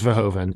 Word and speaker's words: Verhoeven: have you pronounced this it's literally just verhoeven it's it's not as complicated as you might think well when he was